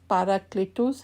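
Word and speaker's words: παράκλητος: میں کیا گیا تھا۔ اس لفظ کا یونانی تلفظ پاراکلیٹوس ہے، جس کے معنی عزت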